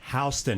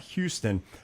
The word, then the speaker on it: Houston: It's on Houston Avenue, not Houston. I grew up in Montgomery, so folks, it's spelled as Houston, but it's Houston Avenue.